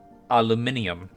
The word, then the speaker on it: aluminium: Aluminum or if you are British, aluminium, despite it not having another I over in that last syllable.